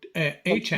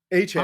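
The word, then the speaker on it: Achane: Ashane? The Notre Dame running back. Oh no. Achan. Yeah, Achan.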